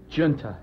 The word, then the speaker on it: Junta: Junta. Junta. Not Junta. No. But Junta, the American pronunciation of that one.